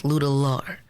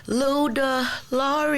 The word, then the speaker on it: Luedellar: I tell a lot of people it's like ludicrous, but it's Luedellar. And when the audience asks how to say it, I sing it. It'll be like, Luedellar is on your mind.